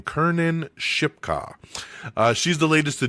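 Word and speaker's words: Kiernan Shipka: Uh, Kernan Sherpka, I always forget how to say her name. Kernan Shipka.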